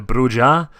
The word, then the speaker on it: Brujah: I know originally I was like always into brujah but partly you go into the vampire the